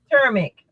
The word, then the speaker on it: turmeric: How you pronounce that T word? Turmeric. How do you gotta work on that. Work on your enunciation. How do you pronounce it? It's turmeric.